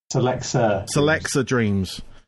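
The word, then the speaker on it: Celexa Dreams: If I pronounce this right as well, I should have asked you. Is it Selexa Dreams? Selexa Dreams.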